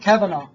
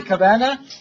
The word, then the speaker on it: Kavanaugh: reference to the names, just in case you guys are asking, Judge Kavanaugh, it's pronounced Kavanaugh. Some people say Kavanaugh, but it's Kavanaugh.